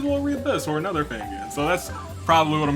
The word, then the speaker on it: Fangan: that there's so many Fangans, so many Fangans. How do you pronounce it, Fangans or Fangans? I pronounce it Fangan, like Dangan, but you know, forget about that.